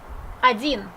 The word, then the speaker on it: один: O is not stressed, that means we pronounce it like A. Один.